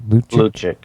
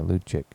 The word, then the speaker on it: Lucic: Lucic. Yeah, Lucic.